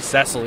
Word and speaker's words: Cecil: acting, so I know his name is supposed to be Cecil, even though it's spelled Cecil.